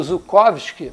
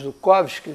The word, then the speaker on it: Zhukovsky: é o aeroporto de Zhukovsky. Zhukovsky foi o grande pai da aeronáutica russa, né? Quando traduzem para nossas letras, usa Z. Só que eu vejo a pronuncia como J.